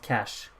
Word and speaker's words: cache: Oh, it's pronounced cash. Oh, I didn't know it was called cash.